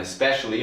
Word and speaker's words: especially: Okay, so technically, especially 4 syllables and specially 3 syllables. But here, the first syllable is so quiet sometimes.